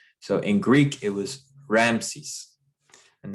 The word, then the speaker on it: Ramses: in Greek it was Ramses and that is how we pronounce it in English is from the Greek the Egyptian way of